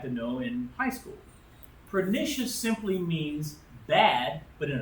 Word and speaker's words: pernicious: to explain uh how do you say it p e r n i c i o u s anemia okay pernicious anemia pernicious anemia now I know the word